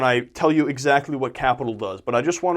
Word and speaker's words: Qapital: And the third and final one I'm going to mention here is an app called Qapital, but it's capital spelled with a Q.